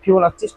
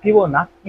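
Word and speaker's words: Fibonacci: বাট এখান থেকে আমাদের একটা জিনিস জানতে হবে, ফিবোনাচ্চি সংখ্যা তোমরা হচ্ছে অষ্টম শ্রেণীতে যখন পড়ছিলা, অষ্টম শ্রেণীতে তোমরা যখন পড়ছিলা তখন ফিবোনাক্কি উচ্চারণ করছিলা, যে ফিবোনাক্কি সংখ্যা।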